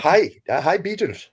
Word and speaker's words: Hej Beatles: And so you had one record, is it pronounced Hej Beatles? Is that? Hi Beatles. Yeah. Oh, Hi Beatles.